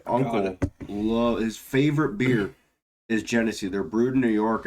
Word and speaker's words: Genesee: Have you ever had Guinnessy? So not Guinness, Guinnessy. Also, Oh. Guinness does make a cream ale. Genesee. Yeah, Genesee. Yeah. My uncle his favorite beer is Genesee.